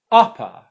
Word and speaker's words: upper: syllable upper upper upper i hope that you can hear that the first syllable is the stressed one the second syllable is unstressed and that's where the schwa sound is i'm going to